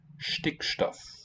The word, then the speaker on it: Stickstoff: You left out the T in Stickstoff. Sauerstoff, Stickstoff are Stickstoff.